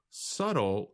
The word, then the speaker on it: subtle: But we do not pronounce the letter B in the word. Subtle describes something that is not immediately obvious or easy to notice.